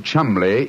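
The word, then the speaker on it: Cholmondeley: reason to know that the name Chumley is in no way pronounced the way it is spelled you I never thought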